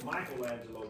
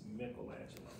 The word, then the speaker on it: Michelangelo: And sometimes we say Michelangelo, but the correct pronunciation is Michelangelo.